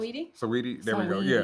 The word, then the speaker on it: Saweetie: I never know how to pronounce it. Saweetie? There we go. Yeah, Saweetie.